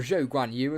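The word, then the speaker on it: Zhou Guanyu: and then you've got guanyu or joe gwen you as the graphic says which really annoys me even though that's technically how you say it um 3.2 seconds off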